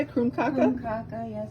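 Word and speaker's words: krumkake: kroomkake, yes, it's a Norwegian cookie.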